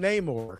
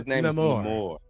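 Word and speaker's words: Namor: First of all, I wouldn't call him Neymore cuz that's not his name. It's Nemore.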